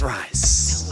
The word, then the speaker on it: Rhys: It's pronounced rice.